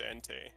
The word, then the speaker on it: Entei: some ante hentai probably pronounce stuff differently it's pronounced Entei I know and I said it right earlier